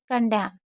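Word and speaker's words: condemn: कन डे म, क्योंकि सी ओ एन को कन पढ़ा जाता है और ये डे हो गया, ये म हो गया। कंडैम, एन हमारा साइलेंट है।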